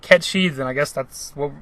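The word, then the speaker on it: Cait Sith: to be kept she I just always pronounced it Cates if ever since I was a kid I Paul we always call it that until we played the remake if it pronounced it cat cheese and I guess that's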